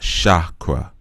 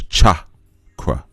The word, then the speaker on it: chakra: It's ch It's chakra. Not chakra. It's chakra.